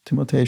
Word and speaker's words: Timothée: Think Timothée, maybe, as his name is properly pronounced. Timothée Chalamet.